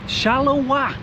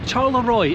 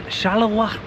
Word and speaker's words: Charleroi: to a very rainy shallow W I don't think I'm pronouncing that right I thought it was pronounced charoy until yesterday uh but yes today we're in shalawa the supposed ugli city